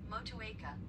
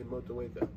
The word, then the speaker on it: Motueka: Motueka.